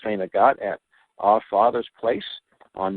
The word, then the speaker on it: St. Agatha: Then, Wednesday, just a few days from now, I'll be in St. Agathe. It's people who don't know the town say St. Agatha, but it's pronounced St. Agathe at Our Father's Place on Main Street.